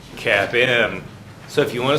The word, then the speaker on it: CAPM: of all capital asset pricing model capn is pronounced cap M so if you want to sound cool around